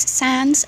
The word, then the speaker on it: Sans: Hi guys, my name is Sans, S-A-N-S. I always have to spell it out loud because people always think that it's Sam, but it's not.